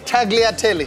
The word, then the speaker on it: tagliatelle: got uh the movie sorry how do you pronounce that name again tagliatelli oh okay we learn things we learn things